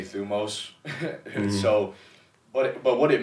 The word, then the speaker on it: thumos: a greek word and i'm actually saying it the way that i say it a lot of greeks would say that i'm saying it wrong i believe it's thymos oh yeah but i just say thumos so but but what